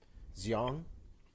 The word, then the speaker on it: Xiong: Definitely made sure that how do we pronounce her name? Xiong.